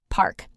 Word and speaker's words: park: Park, simple word, but watch pronunciation different from pork.